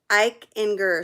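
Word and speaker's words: Eichinger: is pretty incredible so it's it's phil enger i can eichenger phil eichenger okay ike inger so put phil in the search real quick and then i'll spell it out for you guys while you're doing that go into the search youtube search put fill and then i ginger so e i c h i n g e r go do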